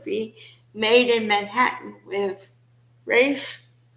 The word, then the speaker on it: Ralph: Another example of that, it would be Made in Manhattan with Rafe, which he spells it Ralph, like Ralph, only it's pronounced Rafe.